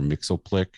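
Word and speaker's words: Mxyzptlk: he brought character to everything he was mr mixel plick is how you say his name yeah mixel click on superman the animated series uh just did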